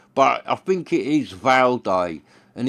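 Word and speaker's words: Vaude: But now with YouTube and that, people are getting the right pronunciation, so it's become Val Day.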